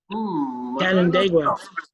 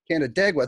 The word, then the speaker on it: Canandaigua: How the hell do you pronounce that? Canandaigua. Canandaigua.